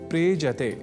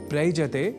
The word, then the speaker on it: प्रेजते: दोनों के मेल से शब्द बनता है प्रेजते। प्रयजते नहीं। ऐसे ही एक और धातु या क्रिया का शब्द है प्रेजति जिसका अर्थ होता है कांपता है।